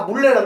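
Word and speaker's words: 문래: 문 하기 발음이 힘들거든요. 어떻게 돼? 그래서 다 물레라 그래.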